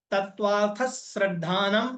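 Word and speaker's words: तत्त्वार्थश्रद्धानम्: ऐसे नहीं बोलना कि तत्व श्रद्धान सम दर्शनम अब बोलना है तत्वार्थ श्रद्धानम सम्यक दर्शन ये सही उच्चारण है तत्वार्थ श्रद्धानम तत्व अर्थ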